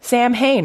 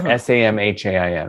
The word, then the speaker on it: Samhain: need to know so you probably have seen that word samhain or s-a-m-h-a-i-n right and uh you know how celtic words are spelled and then pronounced in a totally different way than how they're spelled well this is an example of a celtic word that's pronounced samhain oh oh you wouldn't know that from how it's spelled right worse than english